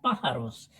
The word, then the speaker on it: pájaros: tild darla A dónde Pues distingamos las sílabas primero pa Ja Ros Pues el acento de voz recae en la antepenúltima sílaba en la primera a